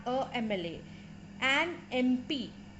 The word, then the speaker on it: MP: with a consonant but the sound it is making is that of a vowel therefore and MP and